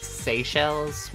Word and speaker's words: Seychelles: Oh, it's pronounced Seychelles?